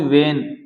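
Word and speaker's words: when: हैसे वेन है इसमें इसका उच्चारण देखो वेन उसी प्रकार इसमें एच साइलेंट है क्या एच साइलेंट है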